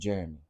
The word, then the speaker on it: Jerome: Oh, it's pronounced Jeremy.